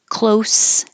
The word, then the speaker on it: close: sound exactly the same close close is spelled the same as shut the door but it sounds like an S at the end close the past tense